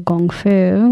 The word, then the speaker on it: gongfu: it is how they mentioned the word of gongfu which is a lot of people more recognized more as kungfu I think and if they think of martial